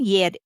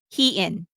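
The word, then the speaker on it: Hyein: One of which is that Herin and Yer, sorry, Hee-in. I was called out for the wrong pronunciation.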